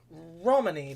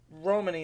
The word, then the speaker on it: Romany: think it's um Ro I've heard it pronounced both ways, but Romany is the way I heard it most commonly.